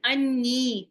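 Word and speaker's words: عني: Anni. How many noons do I say when I say anni? Is this one noon or two noons? There are two noons that I'm pronouncing.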